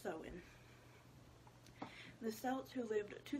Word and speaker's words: Samhain: gives me the pronunciation sewin pronounce so in okay it doesn't even look like it's spelt the same but pronounced so in the celts who lived